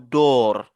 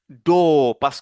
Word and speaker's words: door: Ici aussi, vous n'allez pas prononcer le R comme door. Non. On va donc dire do parce que le symbole que vous voyez ici remplace le O et R.